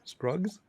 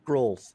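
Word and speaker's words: Skrulls: time in that movie what are you calling them scruggs scruggs right scrolls scrolls wow i'm like what's a scrugg it's a scroll that's a scrub it's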